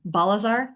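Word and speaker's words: Balzaar: Balazar, did I say it right?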